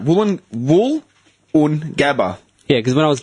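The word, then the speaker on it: Woolloongabba: Let me get the correct pronunciation for you. Wait, I was right. Wollongabba.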